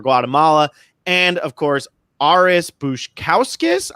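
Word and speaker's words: Baskauskas: and of course Aris bouche cows kiss I've been told this how it's push cows cows cows kiss but according to the survivor wiki his last name is pronounced Bush cows Kass yikes yeah this is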